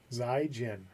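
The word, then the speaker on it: 再见: Zaijian. Zaijian. Zaijian. What is that? Zaijian. Down and then down. Zaijian. Zaijian. Not Zai. Zaijian. Oh, so you have 4 tones.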